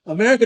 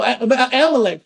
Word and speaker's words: Amalek: He said it, he pronounced it wrong. America, no, Amalek first.